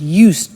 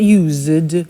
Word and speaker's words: used: listen to the pronunciation I said used with t sound used not used or used that's very important to distinguish it from the other verb use okay used the